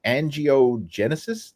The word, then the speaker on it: angiogenesis: focus on this and and how did you pronounce that again angiogenesis did I say that exactly right yeah yeah